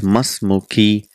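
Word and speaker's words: ما اسمكِ: Because it is hamzatul wasl, we don't pronounce the sound. That becomes masmuki.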